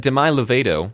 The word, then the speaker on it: Demi Lovato: But Demi Lovato, which is how it's actually pronounced, guys, come on, is the unlucky answer, so that's -3.